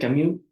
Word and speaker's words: Camus: Bueno, pues Camil, Albert Camu retomó esto y bueno, muchos lo conocen como Albert Camus. Aquí vamos a respetar la pronunciación de su país de origen.